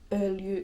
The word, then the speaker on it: öljy: Öljy is kind of a difficult word, I would say, in Finnish, just because the y, u combination takes some getting used to.